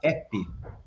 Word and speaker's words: app: vou dar uma dica Toda vez que você encontra a palavra app Você pode falar ep Essa é a pronúncia que é nosso encontramos até